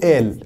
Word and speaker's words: قال: فمثلا ناخذ مثال مصر وتونس، في مصر يقولوا آل في حين في تونس يقولوا قال.